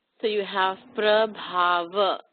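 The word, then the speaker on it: प्रभाव: at the end as prabhava, but not prabhava, okay? Now, the BH here, pay attention, it's aspirated, so the B becomes bh. It's not b, but bh, with that puff of air. So prabhava, okay?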